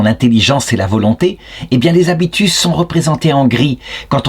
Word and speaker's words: habitus: J'en suis rendu à la question 53 de la Prima Secundae, donc toujours dans le traité des vertus, des habitus, en latin ça se prononce comme cela, et donc elle s'intitule « La diminution et la destruction des habitus ».